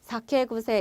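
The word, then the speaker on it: さけぐせ: 자, 쿠세인데, 자, 두 단어가 합치면서 발음 부드럽게 되면서 여기는 구세가 됩니다. 그래서 사케구세, 이거는 술버릇이에요, 여러분.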